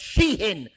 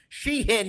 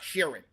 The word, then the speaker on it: Shein: It's Shein. She hin, not Shearan. Not Ed Sheeran.